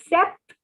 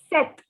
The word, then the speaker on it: sept: note that the p is silent in this word so instead of saying sept it is not sept it is set and it is a